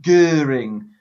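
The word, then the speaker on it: Göring: we move on to Goering Hermann Goering and that's how you say it in German and he introduced the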